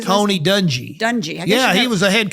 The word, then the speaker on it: Dungy: Tony Dungy how do you say Tony Dungy Dungey yeah he was a head coach well sure